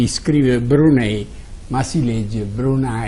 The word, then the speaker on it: Brunei: del sultano del brunei si iscriverebbero lei ma si legge bruna e così abbiamo preso sul posto quando si